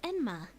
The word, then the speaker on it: Enma: Yama wird im Japanischen als Enma bezeichnet. Bei Japanischer Aussprache der chinesischen Schriftzeichen Yanmo zurb wird ist wieder das Wort Yama.